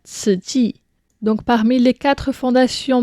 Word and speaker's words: Tzu Chi: la fondation Ts que l'on voit souvent orthographié Tzu U c I mais donc on prononce cela ti.